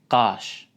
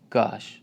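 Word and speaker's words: gaş: Qash. Not like gosh, it's qash.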